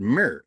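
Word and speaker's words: mr: the ancient Egyptian uh word Mir m r we pronounced it with like mirror because we put an e in because we don't know where their vowels were the glyphs for the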